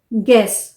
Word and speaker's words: guess: या यू ई का कॉम्बिनेशन है, गेस, GUESS, गेस, गेस्ट, GUEST, गेस्ट।